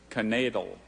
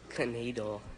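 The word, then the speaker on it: knaidel: Canadal. Are there any alternate pronunciations? There's just canadal and knadel.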